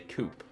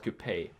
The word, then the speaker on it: coupe: pay say it correctly Americans always say they always say coupe and it kind of confuses me I was like what do you mean coupe it's called Kupe and living here for